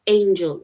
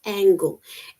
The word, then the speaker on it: angle: mean yeah and remember this is not Angel it is angle angle is a n g l e and then you have Angel which is a n g e l right it says when installing